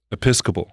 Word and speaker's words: Episcopal: Episcopal high school. Episcopal. Episcopal. It's really, if you look at the just like the word, you want to say it wrong.